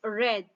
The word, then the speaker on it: read: so it doesn't change it is still read only the pronunciation so read red red okay so mom read